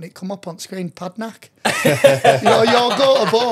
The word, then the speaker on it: Padraic: Padraic. So it's spelt Padraic, pronounced Padraic.